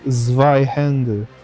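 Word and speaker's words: Zweihänder: My German is bad, but I think it's supposed to be pronounced Zweihände, which means two-handed sword.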